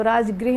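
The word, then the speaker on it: राजगह: क्या होता है कि प्राकृत लैंग्वेज में ना आर जो होता है वो साइलेंट होता है प्राकृत में तो राजगृह नहीं राज गह होता है लिखा हुआ है तो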